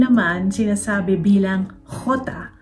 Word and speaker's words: jota: Ang letter J naman sinasabi bilang jota. Katulad ng letter G na ke, yung J sound ay parang hard H. May hagod kumbaga. Hot.